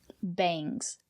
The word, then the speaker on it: bangs: Bangs. Use the long A.